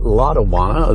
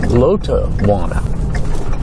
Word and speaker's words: Lotawana: And again, we call it Lawana. That's the way it's pronounced all around here. But its correct pronunciation according to Milton Thompson's wife Ma is Lot Wana.